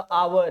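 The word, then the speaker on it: hour: है ना, जैसे आपका आवर है, फिर आपका ऑनर है, फिर आपका ऑनरेबल है। इन सारे शब्दों में समझो ये एच है ही नहीं, ये साइलेंट होता है, एच यहाँ पे साइलेंट होता है बेटा, ठीक है।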